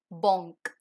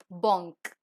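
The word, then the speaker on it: banque: the next is Bank in French bank is pronounced as Bonk ba ah n Q ew uh Bonk and the last one for eyes so eyes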